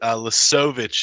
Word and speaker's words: Lisovich: Lisovich is how a lot of people say it. Lisovich is the proper pronunciation.